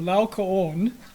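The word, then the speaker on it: Laocoön: So this little thing, the diaeresis above the O, just simply means you pronounce both O's. So Laocoon, and the story goes, he was a priest in ancient Troy.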